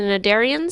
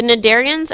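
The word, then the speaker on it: Cnidarians: so now we've moved on to jellyfish the nadarians so the sea is silent the nadarians actually have a funny life cycle they have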